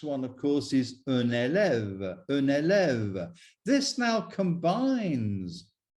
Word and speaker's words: élève: to complete the picture, un élève ends with an E, but because it is at the end of the word and it has no accent, it is silent. Un élève, un élève.